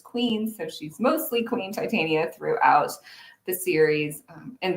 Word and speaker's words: Titania: fairies and tit Well, I guess Titania is how the name is traditionally pronounced, but I pronounce mine Titania with a very science background. I thought, oh, this is related to the metal, right?